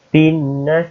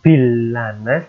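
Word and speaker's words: بِالنَّاسِ: Binnas bukan bilanas tapi binnas karena ini ada tasydid.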